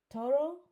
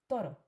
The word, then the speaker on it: toro: a lot of people a lot of English people may say toro to you know with the r pronounced like that to r and actually no it's toro and same thing would